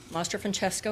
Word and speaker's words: Mastro-Francesco: And yes, I know you're all wondering, Mastro-Francesco is one word, it's Italian, and it's pronounced just like it's spelled.